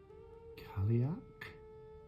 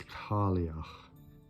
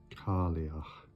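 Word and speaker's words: Cailleach: Is that Kaliak? Not sure, let's have a look. Okay, so apparently it's Kaliach. Kaliach. It's an Irish pronunciation.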